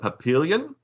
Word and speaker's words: Papillon: The next one is Sophie the Papillion. I don't know how to say the name of that dog. Wait, Pomeranian. No. That's how you. Is that not it? Papillon.